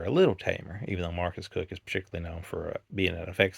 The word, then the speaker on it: Marcus Koch: we get into anything, the man's name is Marcus Cook, but it's spelled Marcus Koch. Maybe, I felt English that ridiculous type situation here, but it, should his name not be like Marcus Koch?